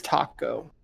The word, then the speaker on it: Taco: Is it Taco or Taco? It's Taco.